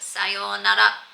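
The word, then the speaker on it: さようなら: It is pronounced sayonara.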